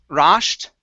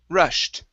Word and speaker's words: rushed: have the word rushed instead of ra rasht it's rushed rust good much better and